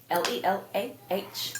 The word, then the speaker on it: Lelah: Lelah, because some people want to know how it's spelled.